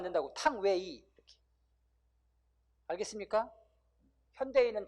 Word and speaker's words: 탕웨이: 중국 발음 유페이. 탕유 이러면 안 된다고. 탕웨이.